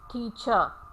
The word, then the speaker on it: teacher: Similarly, the word teacher. Now you can see in the spellings the ra is in the final position, but in phonetic transcription it is not pronounced because it is coming in the final position. So it is teacher. It ends at schwa. Now the first rule that